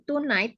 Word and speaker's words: tonight: Tapi untuk pembacaan apa tadi tonight ya, G-nya itu silence ya atau tidak usah dibaca. Tonight. Jadi tonight bukan tonight, no tonight ya. Tonight G-nya itu nggak dibaca.